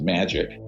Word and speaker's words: Majic: the majority intelligence committee Majic is pronounced magic ironically or not ironically